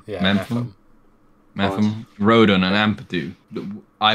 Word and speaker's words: Mepham: Yeah, Mepham.